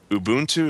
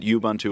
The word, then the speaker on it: Ubuntu: Is it Ubuntu or is it Ubuntu or what? I've heard it pronounced Ubuntu. I think that's right, and I apologize for calling it something else.